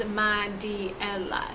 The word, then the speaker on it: Mariela: It's spelled M-A-R-I-E-L-A, and it's pronounced Madiela, so the R actually sounds like a D.